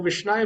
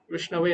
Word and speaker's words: विष्णवे: का ज्ञान ना हो, वो विष्णाय बोल दे, ऐसा भी हो सकता है। और जो धीर व्यक्ति है, धीरो वदति विष्णवे, जो बुद्धिमान व्यक्ति है वो सही से उच्चारण करेगा विष्णवे नमः।